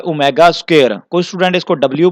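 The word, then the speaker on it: omega: एक पड़ा हुआ है ओमेगा स्क्वायर। कोई स्टूडेंट इसको डब्ल्यू पढ़ेंगे तो डियर स्टूडेंट ये डब्ल्यू नहीं है, ये ओमेगा है।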